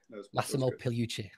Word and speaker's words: Massimo Pigliucci: The G is basically silent. So yeah. Massimo Pigliucci.